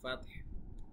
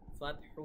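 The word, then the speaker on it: فتح: এক আলিফ টান হবে ল এখানে তারপরে ওয়াল ফাতহ এখানে কিন্তু পরপর দুইটা সাকিন হয়ে যাওয়ার কারণে ফাতহু না বলে আমরা ফাতহ ফাতহ মানে হা টা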